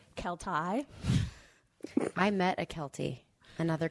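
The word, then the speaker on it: Keltie: whole time yeah well did you know that kelty knight is actually kel tai i met a kelty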